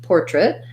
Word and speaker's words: portrait: Okay, so first portrait. Portrait. So even though this looks like it should be trait with an A vowel, we actually have first syllable stress here as well. So we have an or with a clear or vowel, and then portrait. An I or a schwa there in the unstressed syllable.